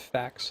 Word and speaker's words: FAQs: Where there's people in chat cringe whenever I say FAQs instead of facts. That's just how I pronounce it.